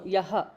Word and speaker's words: यः: No, yaha. Visarga should be pronounced.